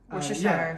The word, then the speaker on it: Worcestershire: Llamas can help me pronounce this. This is Worcestershire. Worcestershire.